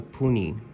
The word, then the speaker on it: puni: And this dot is called a puni. Puni. Puni. Okay. Kind of like puny, like little puny, you know.